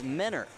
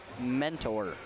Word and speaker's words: Mentor: it last year until I was gratefully informed that it's men are and not meant or as I would so